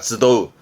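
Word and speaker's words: 集う: 뒤에 우가 나오면 발음은 쯔도우입니다. 쯔도우.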